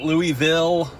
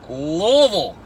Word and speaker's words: Louisville: in Louisville Louisville Kentucky you guys say it right if you're gonna say it Louisville it's not Louisville it's not Louisville its Louisville and you know those just how you say it this is my